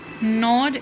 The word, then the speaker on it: gnawed: Okay, he even gnawed at the dried pieces of spotted eggshells. First word जो लिखा हुआ है इस पेज पे उसका जी साइलेंट है, नॉट.